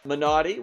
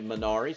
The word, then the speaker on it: Minari: Minari, which some people might say Minari, since that looks like what it's spelled in English, but it is the story of a Korean-American family looking for the American dream, basically.